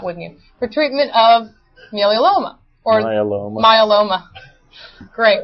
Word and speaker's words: myeloma: For treatment of myeloma.